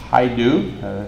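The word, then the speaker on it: Hajdu: Haidu.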